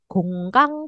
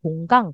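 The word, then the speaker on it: 건강: Gonggang kuk cengki tulisannya gonggang tapi dibacanya gunggang. Gunggang gitu ya.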